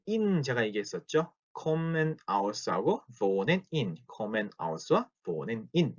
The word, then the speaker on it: wohnen: 그래서 wohnen 이렇게 읽었죠. wohnen 길게 ich wohne 이렇게 길게 읽었죠. wohnst, wohnt, wohnen, wohnt, wohnen 이렇게 오를 길게 읽었죠.